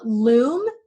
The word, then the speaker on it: Loom: Loom, rhymes with Zoom, but totally different service, is another great tool.